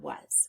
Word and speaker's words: was: There are three sounds in the word was. Now, let's focus on what makes this irregular. When we look at the first sound, we see the W and it is making an expected sound. It's saying W. But then we get to the A and the S. The A is making the sound U.